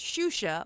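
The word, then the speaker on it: Xuxa: It's It's pronounced Shusha, but it's spelled XA.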